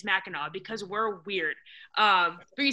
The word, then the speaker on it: Mackinac: i don't know but we also pronounce mackinac as mackinaw because we're weird um